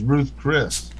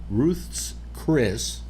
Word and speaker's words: Ruth's Chris: You would think if you got prime at Ruth Ruth's Chris. Thank you. That's the way it's pronounced. Yes. Ruth's Chris State. Named after Ruth.